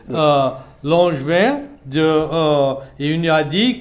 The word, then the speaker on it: Langevin: Langevin et il nous a dit que pour prononcer son nom de famille, c'est comme un ange et du vin.